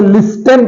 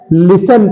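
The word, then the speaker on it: listen: ठीक है अगला है इसे देखा जाए इसे लिस्टन पढ़ा जाएगा लिस्टन लेकिन इसे हम लिस्टन नहीं पढ़ते हैं लिसन पढ़ते हैं क्या पढ़ते हैं लिसन पढ़ते हैं तो लिसन में टी साइलेंट होता है लिस्टन नहीं होता लिसन होता है अगला है वाट ये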